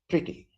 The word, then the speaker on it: pretty: the last one is where you have uh a vowel at the after the letter R so that is pronounced now it is pretty no R will be pronounced pretty this is this is